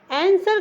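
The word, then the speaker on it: answer: मतलब होता है प्रकृति आंसर का मतलब होता है एन ए एन एस डब्लू ई आर को हम आंसर पढ़ते हैं उसका मतलब होता है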